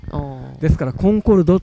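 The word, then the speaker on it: Concorde: によってあの正しくはコンコードと読むみたいなこと書いてあったりコンコードはあのフランス読みなんですねいです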